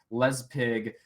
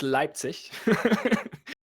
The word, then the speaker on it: Leipzig: finals of the dreamhack les pig uh tournament for due process yep that's that's correct that's correct no it's it's it's leipzig to use my german here for the proper pronunciation okay seems like they